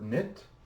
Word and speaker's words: knit: in e s well the word knit simply n e t and again remember this is written phonetically so we don't use the K because it's silent the T also stands